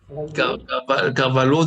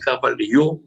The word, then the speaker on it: Carvalho: Déjà, rien que pour prononcer votre nom, Carvalho, déjà, je me suis fait reprendre, c'est Carvalho, enfin bref.